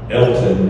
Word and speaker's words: Alton: And the guy's name is Elton, but it's spelled A-L-T-O-N, Alton.